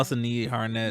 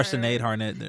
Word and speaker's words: Sinead Harnett: Oh, I always say her name wrong. That's why. Oh, Sinead Harnett. Yeah, I love her. Or Sinead Harnett.